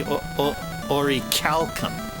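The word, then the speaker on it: Orichalcum: but or but orichalum in Greek it's actually supposed to be pronounced it's supposed to be oricalcum or ODI Calum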